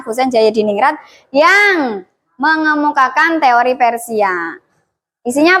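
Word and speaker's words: Hoesein Djajadiningrat: Ini ejaan lama, Cah. Bacanya Husein Jayadiningrat yang mengemukakan teori Persia.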